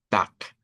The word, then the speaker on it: Tag: Entonces, eh la regla en Dice que se reemplace cuando está al final de una palabra o de una sílaba, se reemplace la consonante vibrante por su contraparte no vibrante. Y de ahí es donde decimos tac.